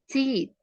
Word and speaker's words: teeth: Jadi lidah kamu tuh di antara 2 gigi kamu terus ada yang terakhir kan ada TH-nya, ada H-nya.